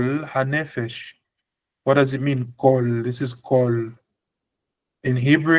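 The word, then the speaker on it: כָּל: But you see kamat, but you pronounce O. For example, so if we say this is an A, kamat is supposed to be an A, but now the rules of grammar say that we must pronounce this as an O.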